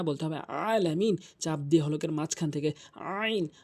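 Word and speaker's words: العالمين: রাব্বি আলামিন বলে নামাজ হবে না বলতে হবে আলামিন চাপ দিয়ে হলকের মাঝখান থেকে আইন আইন এ হার মত করে দুটি হরফ হলকের মাঝখান থেকে উচ্চারণ হয়।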